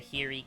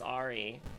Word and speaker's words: Ahri: And I miss my, my Ahri carry, my Ahiri carry. I don't know why I call her Ahiri. It's Ahri, but I like saying Ahiri.